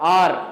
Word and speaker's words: hour: ஆர் அப்படின்னு தான் யூஸ் பண்ணுவோம், ஹவர் அப்படின்னு சொல்ல மாட்டோம். இது தவறான ப்ரொனன்சியேஷன்.